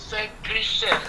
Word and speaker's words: Gelsenkirchen: Donc, le samedi, on était dans la ville, en Allemagne, plus oui, la ville, la prononciation, c'est pas un problème. C'est Gelsenkirchen.